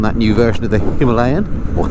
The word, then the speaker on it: Himalayan: to go on that new version of the himalayan or himalayan as it's properly pronounced once it's available to me of course